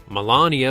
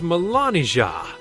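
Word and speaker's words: Melanija: Melania's real name is Melania. It's pronounced exactly the same but spelled with a J.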